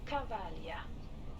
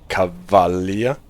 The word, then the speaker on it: Cavaglia: The German and the English voice says Cavaglia, and this actually corresponds with what is written.